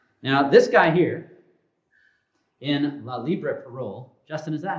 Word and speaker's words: La Libre Parole: Now, this guy here, in La Libre Parole, Justin, is that how I pronounce it?